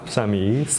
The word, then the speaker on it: Samiee: I'm Samiee, Samiee, you can pronounce it however.